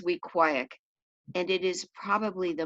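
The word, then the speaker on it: Weequahic: its principal dr hertzberg some people called it week with chick some called it we quake like cheesecake but the right way was we quiet and it is probably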